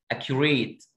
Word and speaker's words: accurate: accurate اك شورت اي كيو لونج يو ريت لونج اي accurate. ليه هنا قلنا السي سي واحده ك والثانيه س والاثنين هنا نطقناهم زي الكي؟